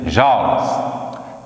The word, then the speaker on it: joule: Escreve joule, mas a gente pronuncia joules.